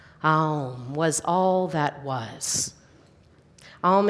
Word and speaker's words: Aum: Pronounced A-U-M in our English phonetic language.